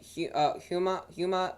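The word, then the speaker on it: Houma: So Retimmer just captured that there in Huma, Louisiana, I believe so. That's how you pronounce it.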